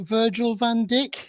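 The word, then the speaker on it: Virgil van Dijk: most people can say but I can never pronounce it right Virgil vanck is that his name yes it is you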